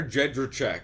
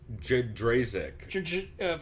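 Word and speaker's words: Jędrzejczyk: He keeps calling her Jedrzejczyk. Jedrzejczyk. Or it's worse than that, though. It's like Jedrzejczyk. Probably like Jed Shryzak or something.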